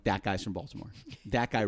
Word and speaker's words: Baltimore: Now we pronounce it Baltimore, but up there it's Balmer. Balmer.